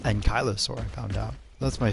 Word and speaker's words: ankylosaur: kentrosaur ankylosaur and kylosaur which is more commonly pronounced ankylosaur um it's actually pronounced and kylosaur i found out that's